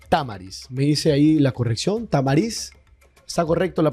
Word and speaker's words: Tamariz: Tamariz. ¿Está correcto la pronunciación?